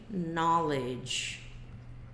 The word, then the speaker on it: knowledge: Só que presta atenção que a pronúncia desse cara é nó, não é know, tá? É knowledge, não é knowledge. Se bem que vamos ver aqui no senhor dicionário, porque é ele que mostra pra gente o jeito que a gente tem que pronunciar as coisas. Knowledge. Na. Olha que doido, esse palavrão aqui tem 2 sílabas.